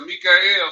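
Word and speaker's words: מיכאל: And at that time shall Mikael stand up, that great prince which standeth for the children of thy people. That's how you say his name in Hebrew.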